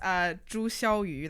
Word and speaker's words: Zhu Xiaoyu: No, my name is Zhu Xiaoyu. That's like the Chinese pronunciation technically.